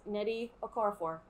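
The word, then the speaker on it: Nnedi Okorafor: is an extra n um so yeah it's neddy okorafor is the author of binti and you should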